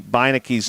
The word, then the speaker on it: Bicki: he pointed to Gabby Bicki's name and he said that name is said Bicki and I said well thank you I would not have imagined to pronounce it that way and he said